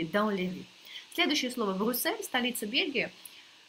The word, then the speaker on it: Брюссель: Я хотела это показать вам, потому что здесь X необычно читается Брюссель. Есть те люди, я таких ни разу в жизни лично не видела, но говорят, что такие есть, которые прочитают как Брюксель, и это будет тоже не ошибка.